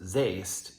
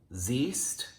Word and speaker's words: siehst: When E and I go walking, the second one does the talking. So this form would not be pronounced sehst, it would be pronounced siehst, sieht.